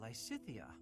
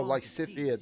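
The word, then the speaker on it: Lysithea: Lysyia. It's Oh, Lysia. That's how you pronounce it.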